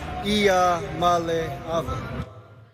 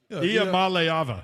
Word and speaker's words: Iamaleava: I'm Nico Iamaleava, and the correct way to pronounce my last name is Iamaleava. Iamaleava.